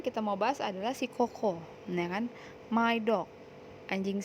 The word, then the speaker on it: Coco: Atau Koko ya, dibacanya Koko.